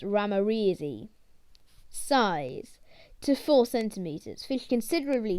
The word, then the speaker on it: ramirezi: scientific name microgeophagus ramirezi pronunciation micro geophagus ramreezy size to four centimeters